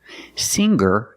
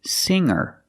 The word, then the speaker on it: singer: a hard G sound singer is not correct we say singer make a nasal sound with the NG M singer and then link to the r sound singer singer she's a singer